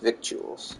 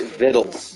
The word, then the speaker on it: victuals: That's how it was spelled. But he pronounced it vittles.